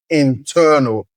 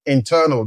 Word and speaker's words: internal: Those are also pronounced by stressing the second syllable and they are pronounced as external and internal. External and internal.